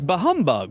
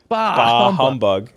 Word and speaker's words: humbug: want to Scrooge is bahug right is he bahug but you got to quit with that your emphasis is on the wrong syllable yes you're making it one word what what is it humbug ah humbug give me